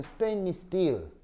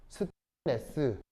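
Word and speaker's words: stainless: 영어 발음으로는 스테인리스 스틸이고요. 콩글리시로는 어떻게 읽어요? 스테인레스. 스테인레스라고 읽는 게 원래 스테인리스 스틸이에요.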